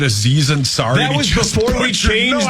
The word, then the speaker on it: Aziz Ansari: When he said Aziz Ansari? That was before we changed the rule. I know, but that was so bad. It was something really like bad. Anzi Ansari.